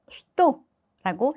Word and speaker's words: что: 자, что 발음할 때 우리 앞서서 설명을 드렸던 적이 있어요. 특수한 발음이 돼요. 슈도 아니라 쉐 발음으로 슈도라고 해주시면 됩니다.